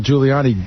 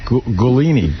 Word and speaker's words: Giuliani: Well, you used to think you used to call Giuliani Gulini. Gulani. I got you. Yes. You know, you used to call it Guliani. I have it on tape.